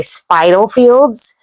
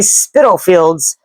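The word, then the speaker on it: Spitalfields: the southern United States, I want to pronounce this with a long I and say spidal fields because that's how it's spelled. But they say spittle fields with a short I sound.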